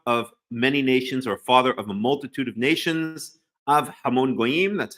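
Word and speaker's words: אב המון גוים: Av Hamon Goyim, that's how you say it.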